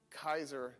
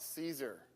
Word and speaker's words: Caesar: as a C because in Latin C is pronounced C. Always. They never the in Latin you don't ever pronounce C the C as a S. It's always C. That's why it's Kaiser, not Caesar.